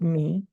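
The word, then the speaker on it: מי: in Hebrew me okay that's a MIM yode it's pronounced me and it means who but here's the Intrigue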